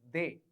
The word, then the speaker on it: de: The pronunciation of D is de.